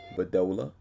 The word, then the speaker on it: Bedolla: And today we're with Myrtis, Bedolla. Am I pronouncing that right, Myrtis?